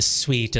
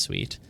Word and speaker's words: suite: I'm staying in a suite at the Ritz Carlton or whatever um I think if they said a suit it would sound weird it must be pronounced sweet uh okay there's nothing